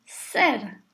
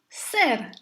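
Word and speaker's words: གསེར: So here we have se plus r, becoming ser. The whole syllable is high and short because the king of that syllable is really the letter sa. So ser.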